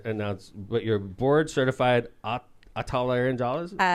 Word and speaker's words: otolaryngologist: And I'm going to try to announce what your board certified otolaryngologist? Otolaryngologist.